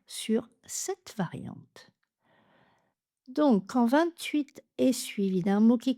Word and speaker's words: vingt-huit: La pointe de la langue qui reste derrière les dents du bas, 28. Je me concentrerai dans les exemples sur cette variante. Donc quand 28 et suivi d'un mot